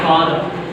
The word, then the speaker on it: father: And here father. R silent.